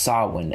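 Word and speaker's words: Samhain: mean this this story saw one and it's pronounced saw one s am HIA in and saw one is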